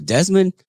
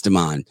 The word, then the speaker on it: Demond: happen is like uh desmond it's demand uh damon it's demand uh demon it's demand oh i'm sorry uh-huh